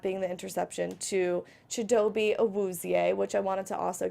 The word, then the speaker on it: Awuzie: That's the Awuzie, thing. it was correct. Awuzie.